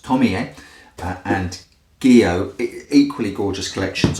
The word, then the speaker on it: Tomie: watching one of the movies found out it's pronounced Tomie, and Gyo, equally gorgeous collections.